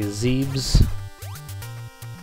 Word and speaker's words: Zebes: Some people say Zeebs. I'll probably continue to say Zebus, because that's just how I used to pronounce it growing up.